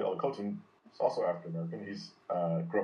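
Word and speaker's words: Olukotun: and his last name is Olukotan, O-L-U-K-O-T-U-N.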